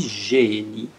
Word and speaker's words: génie: Ça s'écrit G-E accent, ça se lit génie. Génie. On ne le lit pas gay, génie. Non, génie.